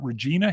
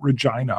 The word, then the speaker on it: Regina: pronounce it mhm I used to try to pronounce it Regina he said no it's like sewage ina is rhymed with a female boss - and then he said but Regina like Mulva right over there BC 8 PC